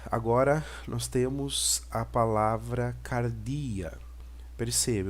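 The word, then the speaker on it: καρδία: a palavra Cardia perceba eu tenho CAD capa o A de Alfa esse pesinho é o Robson de R então Car o d o delta né o iota e o alfa que vai me dar a posição sonora do grego cardíaca né e cardía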